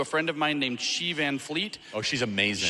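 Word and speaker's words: Xi Van Fleet: friend of mine named she van Fleet oh she's amazing she is spelled x i van Fleet is spelled the way you think it is she's incredible she's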